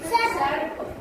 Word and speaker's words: सर्प: स र बोलेंगे फिर प, सर्प। मीशु तो क्या बोलेंगे सर्प।